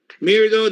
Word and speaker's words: Mirdo: Mirdo that rhymes with weirdo.